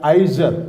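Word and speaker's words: עזר: That is pronounced as Izer.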